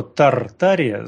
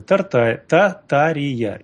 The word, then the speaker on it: Татария: сети была информация что Тартария с буквой Р это результат перевода с английского у них р не читается а по-русски первоначально говорить надо Татария это конечно можно это